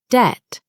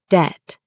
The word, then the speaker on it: debt: The next word is debt. Some people say dep pronouncing the B, but the B is silent. We say debt.